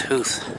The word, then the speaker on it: Howth: The suburbs of, it's Howth, not Howth. I think it's pronounced Howth.